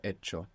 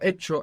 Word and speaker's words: hecho: Because in a phonetic change that occurred in Spanish, many F's became silent H's.